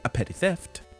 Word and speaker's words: A Petty Theft: to our good buddy, A Petty Theft. Correct. Nice. That is how it's pronounced. Two P's at the beginning, two T's at the end.